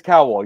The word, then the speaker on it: Cowal: Is it Cowal or Cowal? It is Cowal. You pronounce it the first Cowal, time, right? Like Simon Cowal. I get that all the time.